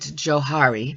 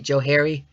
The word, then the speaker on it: Johari: and harry ingram and they combine their first names so maybe it's joe excuse me joe harry but i like johari